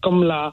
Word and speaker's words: Kamala: That's how it's pronounced, her name, Kamala. Is it spelled the same? Yeah, spelled the same. It's an Indian name, right? Because it can be short for Kamalji as well, yeah? Right. Kamala, right? So that's how they say it, right? But it's up to them how they I suppose so, yeah. You know. But that's what I heard. It was comma, as in the punctuation, followed by la.